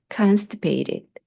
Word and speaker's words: constipated: 그다음 변비가 있어요 할 때 I'm constipated 앞에 강세 두셔야죠. constipated.